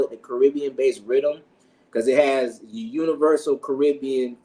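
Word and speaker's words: riddim: songs they have different rhythms they call it's not spelled the traditional way of Rhythm it's spelled r i d d i m Rhythm so it comes because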